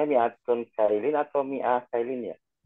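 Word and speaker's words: مِائَةُ: Yang mi'a itu bacanya mi'atun kailin atau mi'ah kailin ya? Mi'atu. Kalau kita mau sempurnakan harokatnya, kita bilang mi'atu.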